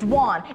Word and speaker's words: Doan: It's Dwan. It rhymes with swan. It's very simple. It's not Doan.